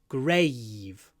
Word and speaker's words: grave: on the grave uh here we have a V at the end it's voiced so there's